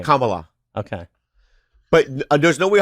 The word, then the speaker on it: Kamala: I voted for Kamla. You can't even say her name. You felt like you were your mouth rejected her name. Kamala.